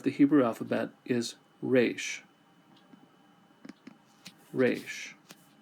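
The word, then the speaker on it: ריש: Resh sounds like the letter R. Now, in traditional pronunciation, it would have a rolled R, like rolled R. But we don't do that. We just do the regular R.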